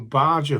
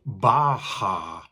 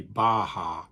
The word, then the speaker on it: Baja: Anyway, first sale to show you is a Mexican Barger hoodie. However, apparently they're not called Barger hoodies, they're called Baja.